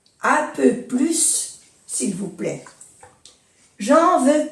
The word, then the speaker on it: plus: Por ejemplo, 4 plus 2 font 6. 4 plus 2 font 6. Aquí se pronuncia la S.